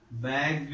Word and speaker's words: bagged: Bagged is the past tense. So how is it pronounced here? It is pronounced as bagged. This ed is pronounced as do here.